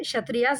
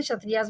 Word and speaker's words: क्षत्रिय: क्षत्रियास, इसमें के साइलेंट रहता, एंड वैश्यास एंड शूद्रास.